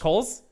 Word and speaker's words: Cowles: Dan Coles. Coles? Like the Yeah. store? Nailed it.